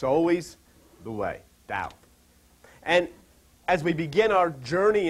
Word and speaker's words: Tao: lessons in Oriental spiritualism if you would call Da as spelled ta AO but pronounced da and what it means actually is